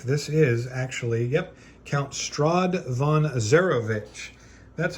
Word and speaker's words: Strahd von Zarovich: I think this is actually, yep, Count Strahd von Zarovich.